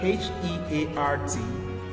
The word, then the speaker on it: heart: b e a t but now in the word h e a r t they make an a